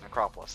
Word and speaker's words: Necropolis: Uh instead of the Necrop uh Necropolis, Necropolis, Necropolis, that's how you pronounce that word.